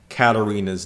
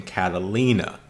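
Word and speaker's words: Katarina: I quickly noticed that I constantly mispronounced Catarina's name by seeing Catalina but I want to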